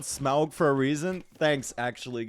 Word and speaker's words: Smaug: Not pronounced Smog. Oh, Smaug. You mean Smaug?